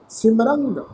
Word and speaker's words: सिमरंग: सिमरंग ससे नूं सियारी मम्मा रारे अखर के उपर टिप्पी का नासकी उच्चारण करांगे जी।